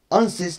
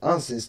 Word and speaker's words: AdSense: Anses diye bir uygulama var. ADSNS diye bir okunuyor. Anses diye okunuyor bakın.